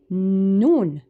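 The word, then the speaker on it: نون: So with the letter noon, the two mahares are the nasal and the tongue. So to be able to pronounce noon correctly, you have to feel the air here in your nasal but also place your tongue at the same time at the back between your gums and your two front teeth. So you say noon noon.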